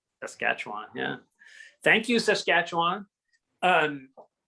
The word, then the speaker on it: Saskatchewan: like saying it because i learned how to pronounce it popularly that's all say again sorry saskatchewan saskatchewan yeah thank you saskatchewan um we we we